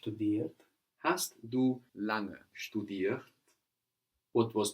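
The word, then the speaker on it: lange: la ng e and this ng that is falling on the end of the syllable is like the English ing longer we don't have a hard go sound langa langa good have you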